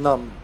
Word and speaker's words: numb: out yeah Nimble and numb but they made it Nimble and number I guess because it's a silent B it's uh it's numb not numb right is that the